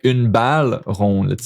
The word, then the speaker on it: rond: Un bateau rond. And then you don't pronounce the D.